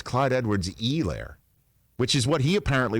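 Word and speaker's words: Clyde Edwards-Helaire: and then just recently it's not clyde edward's a lair it's clyde edwards elaire which is what he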